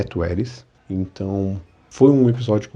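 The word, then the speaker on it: Taweret: a personagem que inclusive no outro eu falei que ela tuat e aqui é a gente viu que a pronúncia correta da personagem né da Deus bótom Deusa da fertilidade é tueris então foi um episódio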